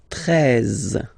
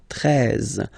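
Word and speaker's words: treize: Then now if you combine this E and E, you get the sound E, really open. 13, 13. Final E, as usual, not pronounced. 13, 13.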